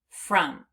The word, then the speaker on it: from: But that u or not the u the o is sounding like a u instead of making an a sound it's making an h sound as if it were a u but it's not. It's an o.